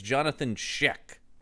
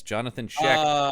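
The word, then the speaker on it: Jonathan Schaech: It's Jonathan Sheek. Is that how you pronounce it? That is how you pronounce it. Yes. Jonathan Sheek, who is always makes me sad because he's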